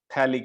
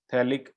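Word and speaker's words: phthalic: इसका नाम है P silent थैलिक acid, थैलिक acid, ठीक है।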